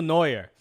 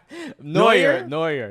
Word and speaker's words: Neuer: I heard that his go-to person for goalkeeping advice is none other than Manuel Neuer at Bayern.